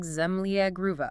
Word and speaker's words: Zemlja Gruva: And let's get the pronunciation right. It's Serbian. Something like Zemlja Gruva.